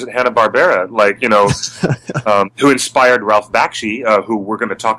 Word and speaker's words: Bakshi: I think I pronounced it. Close. Bakshi. Directed by Ralph Bakshi.